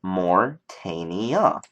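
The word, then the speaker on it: Morytania: know the actual area is morania and it's pronounced morania so morm um is morania okay now depending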